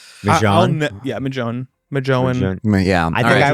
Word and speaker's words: Mjøen: And the hard thing about it too is it's spelled MJOEN. Mm-hmm. It's like Mjøen.